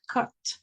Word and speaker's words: cut: Si usted ve una palabra corta con u, normalmente va a ser a como cut.